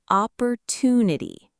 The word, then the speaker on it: opportunity: Op, por, tu, ni, ti. The stress, the strong sound, is on to, opportunity.